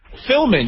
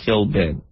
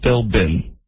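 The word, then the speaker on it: Philbin: many words in the English language the be is silent so the B is Sil but it turns into an M Filman you say Filman you're not even saying Fillin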